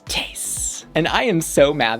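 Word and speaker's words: Tayce: It's Tase. And I am so mad that her name is not pronounced Tacy. I want to say Tacy. You know, just like how you say Versace.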